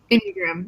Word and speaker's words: Enneagram: How's it pronounced? Enneagram? Yeah. Enneagram, yeah.